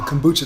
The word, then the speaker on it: kombucha: So I guess too, to get into it now, kombucha.